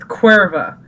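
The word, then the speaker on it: Caoimhe: Yeah, it's pronounced Cuerva. And I'm like... Like the beer. Yeah. In Mexico. But not exactly. And the spelling is like Ciomhe. And that's it's just pronounced Cuerva?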